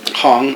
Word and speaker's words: Hong: We were saying it wrong the whole time. Hong.